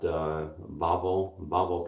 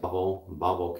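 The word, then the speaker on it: Wawel: They've got Babel Castle. They pronounce the W's like Babel Castle. They pronounce the W's like a V, I think.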